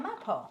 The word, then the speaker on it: Mapo: Mickey pronounced it right. It is Mapo. See? Yeah, Mapo.